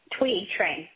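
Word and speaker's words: Thuy Trang: Tui Trang.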